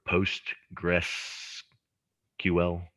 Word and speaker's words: Postgres: It operates in the same space as Oracle or Microsoft SQL Server or PostgreSQL. It's spelled PostgreSQL, but people just call it Postgres.